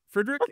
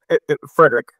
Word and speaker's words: Friedrich: Am I pronouncing that right? Is it Friedrich? It's Frederick.